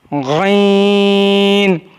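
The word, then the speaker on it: غین: Ghain is pronounced from the top part of the throat.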